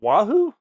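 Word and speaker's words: Wahoo: How do you pronounce it? Is it Wahu?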